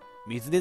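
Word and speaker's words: 水根: さすが水根だな。これね、水根って読むんですよ皆さん。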